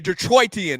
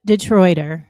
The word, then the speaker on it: Detroiter: She is a Detroititian. Is that the way to say it, Tree? A Detroitian. How do you say it? She from Detroit. A native Detroiter. Just a native Detroiter. There's no Detroitian or anything like that.